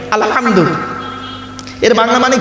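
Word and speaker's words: الحمد: আলহামদু, গলার ভেতর থেকে এটা উচ্চারণ করবেন, আলহামদু।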